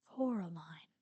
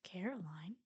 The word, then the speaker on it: Coraline: mice they get things wrong they got your name wrong you know they kept saying Coraline not Caroline not Caroline at all he picked up a